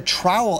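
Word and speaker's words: TROWAL: aloft it's called a trowel it's called let me spell it out for you t-r-o-w-a-l that's a trowel a trough of warm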